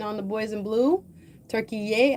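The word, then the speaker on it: Türkiye: Turkey yay as they pronouncing it.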